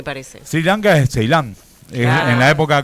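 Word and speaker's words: Sri Lanka: sri lanca gordito favor Cómo es que se pronuncia Siri sri lanca sri lanca s es una sola I me parece sri lanca es ceilán en la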